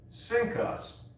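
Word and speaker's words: CINCUS: is the cnc us which is pronounced sync us after pearl harbor king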